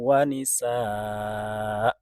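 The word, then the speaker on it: ونساء: Wa batha minhuma rijalan katsiran wa nisaa. Biasanya kita menghentikan bacaan dengan mensukunkan hamzah. Padahal dalam kasus ini ketika ada hamzah tanwin fathah diwakofkan harusnya membacanya wanisaa. Hamzah dibaca 2 harokat.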